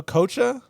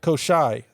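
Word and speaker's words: Koschei: His name is Koshai the Immortal. Oh, Kocha? Koshai. All right. I could say Koshai. I read it differently on the internet, but I think it's Koshai is what they'll call him.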